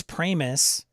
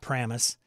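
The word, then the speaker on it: Pramas: Chris Pramus. Now I've realized how his name is pronounced. Not Pramus.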